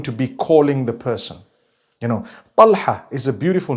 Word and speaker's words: Talha: Talha. Talha is the proper pronunciation.